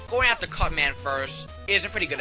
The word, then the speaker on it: Cut Man: the boss rush anyways here's cutsman stage or cutman stage I'm sorry I'm so used to gutsman having this at the end that sometimes I pronounce cutman cutsman but anyways here's cutman